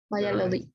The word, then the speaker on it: Valladolid: Valladolid, ahí está. Esa es la pronunciación de la ciudad, no me venía bien.